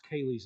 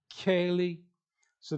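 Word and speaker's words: Kayleigh: So like no one could pronounce Kaylee's name because we spelled it very weird. K-A-Y. They don't have a Y in their language. And then L-E-I-G-H. The I, G, and H are pretty much silent.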